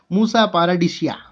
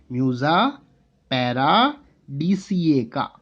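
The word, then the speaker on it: Musa paradisiaca: That is Musa paradisaica. Or if we want to memorize it in funny language, we can also say Musa paradisia.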